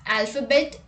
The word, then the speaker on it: alphabet: PH is sometimes pronounced like F. Let's look at the examples. Telephone, paragraph, alphabet, epiphany and sophomore.